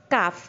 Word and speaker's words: calf: ঠিক আছে, আর হাতি, হাতির বেবি হচ্ছে এলিফ্যান্ট অ্যান্ড ইটস কাফ, তাহলে হাতির বেবিকে বলে কাফ, CALF, কাফ, কিন্তু এলের উচ্চারণ এখানে হবে না।